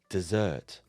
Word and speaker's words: dessert: an s in dessert and it makes the pronunciation slightly different to desert with 1s listen carefully dessert and desert let's start by looking at the